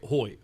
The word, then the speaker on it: hoy: I meant to say hoy.